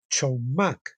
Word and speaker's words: chokmah: La palabra hebrea, perdón, para sabiduría es chokmah, C-H-O-K-M-A-H, chokmah. Se escribe chet, recinto, valla, quiere decir chet, y kaf, mano abierta, y men, agua, inmensidad y caos.